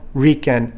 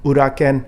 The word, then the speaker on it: uraken: the one knuckle strike you hear this introduced in the dojos as shuto uraken okay or mispronounced as shuto riken shokenski okay let's stop that let's do it all together soto uke urakensky or as i pronounce it or introduce it in my school shuto uraken shokinski are we clear on that